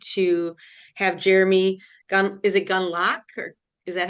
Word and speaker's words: Gundlach: Hello, this is with Building Healthier Communities, and I'm really excited to have Jeremy is it Gunlock, or is that how you say it?